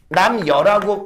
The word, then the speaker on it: 남녀: 한참을 구경하고 금강문에 도로 내려와서 남녀 요거는 남여라고 발음하는 게 좋아.